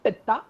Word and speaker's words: Pitta: And this is how you pronounce Vata, Pitta, and Kapha, right?